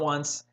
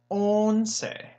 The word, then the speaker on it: once: is 1111 on say looks like once like once upon a time but it is not once it is own say okay they don't have